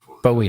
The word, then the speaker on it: Bowie: Bowie's Bowie knife but I thought it's a buoy knife that's a buoy knife a weapon he